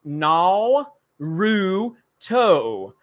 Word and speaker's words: Naruto: it's Katelyn Alba says it's pronounced na Roo toe let's see so Lucasfilm